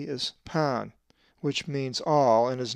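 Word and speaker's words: π: upper and lowercase p, which is always pronounced pa, as in past. The p is the most recognized Greek letter in both upper and lower case, as it is used extensively in mathematics, and it is the p sound. The numeric equivalent of the p is 80. In true Greek, it is not pronounced pi.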